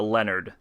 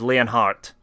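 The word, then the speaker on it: Leonhard: p p you're gonna you're gonna correct me and say his name is Leon Hart I don't give a it's Leonard Leonard is easier to say than the the German heart um but yeah L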